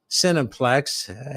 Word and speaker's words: Cineplex: So if you go into the Cineplex, heavy emphasis on the phonetic sin there. They spell it CIN, but really it's SIN.